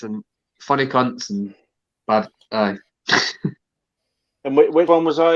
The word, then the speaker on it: aye: We say aye, but it's spelled A-Y-E. Aye.